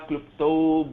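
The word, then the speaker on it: क्लृप्त: Klupta, lu is a very rarely used vowel.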